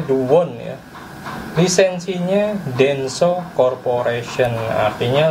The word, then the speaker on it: Doowon: Karena lisensi Dewon, kita bacanya Dewon ya, lisensinya Denso Corporation, artinya sama dengan Denso yang ini made in Jepang, ini made in Korea.